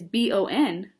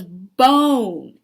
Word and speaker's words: bone: it because it goes, it's B-O-N, but this says b-on. Bon. My dog doesn't love bon. My dog loves bone. And remember, we need the silent E to help the O say its name.